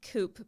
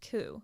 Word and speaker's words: Coup: c o u p oh so it's spelled coop but pronounced ku dude what yes how what i didn't know